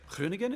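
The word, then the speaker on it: Groningen: say like you know it's spelled like grunegan yeah and so the conversation goes like oh we're so happy to be in green again they're like kringen and you say krunigen and they're like hernigan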